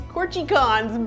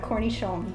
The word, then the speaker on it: cornichon: I call these corchicons, but that's not the way you say it. How do you say it right? I think it's cornichon. Let's see, that's the French accent.